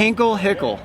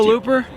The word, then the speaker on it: Hickenlooper: You have a guy named Hickenlooper. Hickenlooper. How do you say what now? Hickenlooper. Oh, you just went close enough. You were close enough. Hickle. I can't help it. I have to correct you. Hickenlooper?